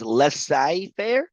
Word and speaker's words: laissez-faire: So laissez-faire, the emphasis on fair, and then one lesser used is laissez-faire.